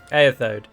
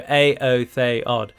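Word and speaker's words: Éothéod: I used to call them Eothode, but it's just not pronounced that way. The accent on the E denotes that it is not a diphthong and it is an independent sound. So Aotheod.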